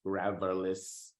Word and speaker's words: Gravillis: Gravillis, pronounced Gravillis.